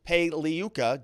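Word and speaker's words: Pagliuca: Maxwell's lawyer, Pei Liuka, G is silent like lasagna, says we'd like to know which juror it is, or at least if they are an alternate.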